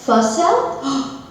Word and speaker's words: Fisel: My last name's pronounced Fel. What? I've been mispronouncing your name for over a year, babe. It's all right, everyone. It's French. It's French.